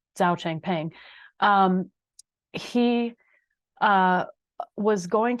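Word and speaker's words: Changpeng Zhao: who goes by CZ actually we would pronounce we would say his name Zao Chang ping um he uh was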